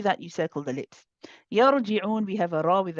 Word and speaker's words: يرجعون: Sister Shireen, is that the ra for you is pronounced with, you are adding an itbaq to the ra. So it sounds trapped in your, and it's very easy to do because you're trying to make it heavy.